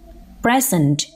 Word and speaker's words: present: Similarly, in the second sentence, the stress is on the first syllable of the word present because it is noun.